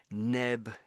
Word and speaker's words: nebulous: It's more nebulous.